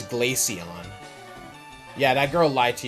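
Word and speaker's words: Glaceon: Is Glacion pronounced like Glacier or did this one girl lie to you? Like Glacion? No, it's Glacion.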